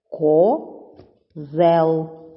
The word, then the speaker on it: козел: Козел. Так, це слово ділиться на два склади. Перший ко, другий зел. Наголошений другий склад.